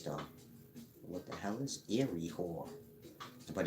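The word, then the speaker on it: Iry-Hor: can do a video later explaining the proper pronunciation of ancient Egyptian names but Eerie whore i r y Dash h o r if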